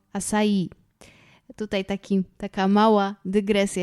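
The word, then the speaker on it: açaí: Akcent nad literką i więc bardziej akcentujemy tutaj końcówkę Czyli mamy nie asai tylko asai tutaj taki Taka mała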